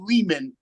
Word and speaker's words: Lehman: It's me, Ari Lehman, rhymes with demon, the first Jason Vorhees from Friday the 13th.